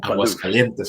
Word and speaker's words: Aguascalientes: Did he pronounce that right, Joseph? Yeah, that's good. That's good. I think everybody. Aguascalientes or Aguascalientes, señor.